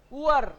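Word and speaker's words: Uhr: Oor. H is again silent. Oor.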